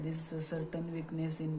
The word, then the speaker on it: Psora: First one वाज दी सोरा, PSORA, यहाँ पे P silent है।